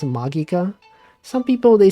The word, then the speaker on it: Magica: beloved anime you guys know it's called It's pronounced magika some people they say Magica they don't know they're pronouncing it wrong magika it's true look it up Mendelssohn is a